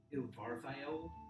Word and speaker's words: Ilvarthael: You read the first name as Ilvarthael Everstone. God. How do you spell that? Ilvarthaele. Wait, A-E-L-E. Yep. And then Ivar, so it's like Ilvarth. Wait, it says an I. Ilvarthael.